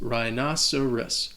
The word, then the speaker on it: rhinoceros: The next word, sticking with our animal theme, is rhinoceros. And this word can be confusing because the H is silent and the C sounds like an S. Rhinoceros.